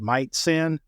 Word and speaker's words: Majcen: He likes to say it's pronounced Majcen, might not.